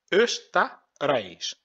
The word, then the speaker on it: Österreich: Woher, aus, du, Österreich. Je vais essayer de faire des syllabes ici. On peut lire de là jusqu'à là, c'est devenu Öster. Après de là jusqu'à là, on va dire Reich. Österreich.